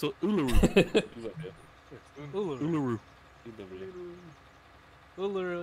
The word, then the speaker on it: Uluru: It's a Uluru.